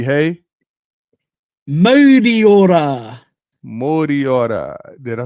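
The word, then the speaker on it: Mauriora: We say, Ti hei, T hey, Moriora.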